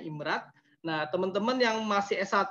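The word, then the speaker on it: IMRAD: Nah ini pola-pola riset yang umum, sebenarnya ini standar internasional ya, IMRD ini, IMRAT ya, nyebutnya bacanya IMRAT.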